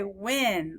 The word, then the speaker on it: when: Now, it doesn't say n. We don't say it like Eddie Elephant, do we? We say when, like in, don't we? That's why this is a tricky word. It's not spelled like an Eddie Elephant, like it's a closed syllable, is it? Like a short vowel.